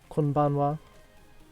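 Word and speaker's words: こんばんは: And then we have good evening, which is konbanwa.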